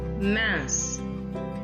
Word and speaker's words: mince: I'll repeat again that these consonants, the S added at the end of the plural form of the adjectives is silent. We will not pronounce this S. That is why the plural form also remains same in pronunciation with the singular form.